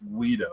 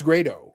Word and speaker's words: Grado: Like it was like, no, that's why I wanted to, because I don't think it's pronounced Guido. I think it's like Grado or something. That's what I think. It's Grado.